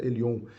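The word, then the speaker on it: Elyon: do vetor referir a palavra Elohim ou Elion tá a pronúncia ele on é uma das maiores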